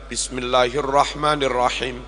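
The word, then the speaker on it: بسم الله الرحمن الرحيم: baca bismillahnya kurang benar harusnya dibaca Bismillahirrahmanirrahim bis ba kasrah ketemu Sin bis Tapi beberapa imam yang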